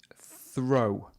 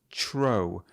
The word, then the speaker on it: throw: If you listen back, you will hear that Elisha pronounces it tro with a ch. Now, this is very common for people from Malaysia or Singapore. The pronunciation of the first sound will often be ch. All right. I think an examiner would mark them down on this because it's not natural. We wouldn't normally say tro.